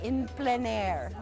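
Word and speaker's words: plein air: plain air which means it's a French pronunciation it's called impire is how it's pronounced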